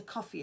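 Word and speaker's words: Ko-fi: Now, I know that one or two of you will have seen that I've got a coffee account, which is spelled Ko- Fi, and that's where if you wanted to do a thank you for a video, you can send a message.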